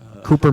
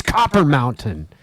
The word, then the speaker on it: Copper Mountain: It's like it's Copper Mountain. And the Hispanic guys say Cooper. No, it's spelled differently. Yeah. Cooper's 2 P's, copper, right? Right. 2 P's, 1 P. Cooper is 2 O's.